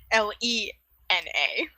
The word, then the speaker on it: Lena: Because it is not like Tina. It is like Lena.